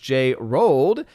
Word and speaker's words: J Rolled: Also, Odin, it's pronounced J Rolled. It's a play on words if you look at my avatar.